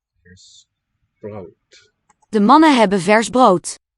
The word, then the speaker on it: brood: De mannen hebben vers brood. Here's brood. De mannen hebben vers brood. Brood. I hear a diphthong here, brood. De mannen hebben vers brood. Which German does not have there.